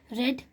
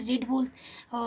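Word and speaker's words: read: ठीक है ना, यहाँ पे क्या कहते हैं, फर्स्ट फॉर्म में रीड बोलते हैं, लेकिन सेकेंड थर्ड फॉर्म में रेड बोलते हैं। ठीक है ना, लेकिन स्पेलिंग सेम होती है।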